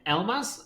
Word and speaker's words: Elbaz: Today we have Benjamin Elbaz. I didn't actually double check if that's the correct pronunciation.